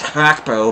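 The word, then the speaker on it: Gakpo: playing for us here it's actually supposed to be pronounced hack Pro but I'm never gonna stop uh saying Gap or it's just I know that's incorrect but it's just second nature means a to G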